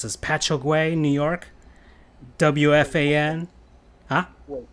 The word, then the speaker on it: Patchogue: Worked for Sports Channel America, WALKAM, and I can't even pronounce this, Patchogue, New York, WFAN. Huh? Wait, spell it for me. Patch, like a patch, and then Ogue, OGUE, Patchogue, Paninis, I'm not sure, pierogies.